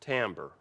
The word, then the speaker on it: timbre: another element of music timbre looks like timber pronounced timbre right and it means tone